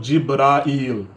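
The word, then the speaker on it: جبرائيل: Em árabe é Jibril ou Jibrail. As duas pronúncias servem em árabe.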